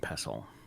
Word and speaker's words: pestle: You don't say the T or n pestle mortar and ple every day. Okay. All right. Um, all the potatoes suggest Kira is kombucha's jealous younger sibling. Yes, very bad. I pronounced that wrong. It's mor and pestle.